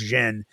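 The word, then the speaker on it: jinn: And a jin, a jin, you know, that's it's actually pronounced jen, but a jin is a well-known, you know, like ghostly uh paranormal shadow person.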